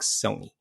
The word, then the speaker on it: Sony: Well, more specifically, we want to talk Sony. Rhymes with bony.